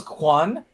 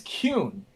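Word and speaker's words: Qwun: Like oh my god like uh it's not so the creature that's spelled q uh wu n I thought that was quan for the longest time. It's Cune.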